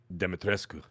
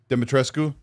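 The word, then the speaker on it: Dimitrescu: How do you say Demetris? Demetrescu. Demetrescu.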